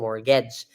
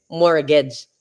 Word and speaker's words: mortgage: Yun yung mortgage. Ang pag-pronounce yun, guys, mortgage. Pero meron po siyang letter T. Kahit pa mortgage ang pag-pronounce niyan, guys, silent yung T.